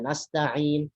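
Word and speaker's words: نستعين: Ada Al-Alamin, ada Nasta'in.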